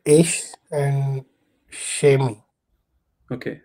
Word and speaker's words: ich: They will not say ish, they will say ik, or they will say ik. Don't fight with them. Anybody can pronounce whichever they want. But if you want to pass the exam, go with ish.